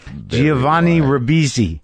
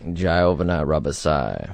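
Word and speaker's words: Giovanni Ribisi: do you pronounce it do you pronounce it there with an Italian flare I mean I guess so it's it's so it's in between an English and an Italian uh dialect I guess do you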